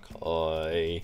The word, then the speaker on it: koi: we go oh oh it's a koi it's a Coy I that's how you pronounce them in English these are cool okay